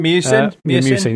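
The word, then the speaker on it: Miucin: How do you pronounce the guy's name? Philip? Is it Musin? Musin, yeah, Philip Musin.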